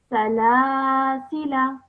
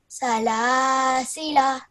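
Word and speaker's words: سلاسلا: So I will pronounce this in continuation as Salasila. Salasila.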